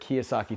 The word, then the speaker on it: Kiyosaki: Kiasaki. I don't want to say it because I'm afraid I'm gonna say it wrong. Huh? Robert. Robert Kiyosaki.